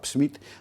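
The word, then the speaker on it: Psmith: Tiene una novela que se llama The Hatzell Smith, donde la P no hay que pronunciarla, es P muda.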